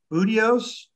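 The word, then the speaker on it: Buteos: explanation to help remember and i'm going to pronounce this wrong budios perfect yeah yeah so the budio is um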